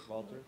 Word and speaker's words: Wouter: Wouter.